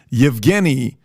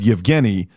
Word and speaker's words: Yevgeny: Number one, the guy behind Wagner Group is a guy named, I want to pronounce this correctly, Yevgeny Prigozhin.